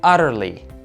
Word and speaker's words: utterly: very is by saying utterly. I want you to pay attention to the double T here. It's flap T, and in American English, it's pronounced as a light D. Utterly, utterly.